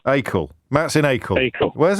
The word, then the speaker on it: Acle: How do I pronounce that? Acle. Acle.